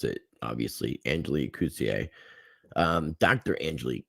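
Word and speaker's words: Coetzee: i wanted to point out here uh it's kuzier is how you pronounce it obviously angeli cousier um dr angelique coutier um you're you're just getting a lot of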